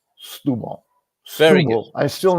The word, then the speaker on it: Setúbal: And then it's like, okay, now I can say Setúbal.